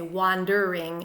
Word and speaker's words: wandering: So Shakespeare doesn't intend us to say wandering in 3 syllables, but rather wandering in 2 syllables to keep the meter intact.